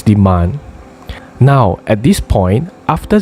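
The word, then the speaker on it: demain: how do you say tomorrow in french it's demand sorry so at this point zach couldn't hear clearly so he asked jasmine to repeat can you say that again please yes it's demand now at this point after zad got the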